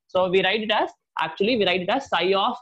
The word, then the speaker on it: psi: This is what is called as psi, P-S-I, P is silent, right?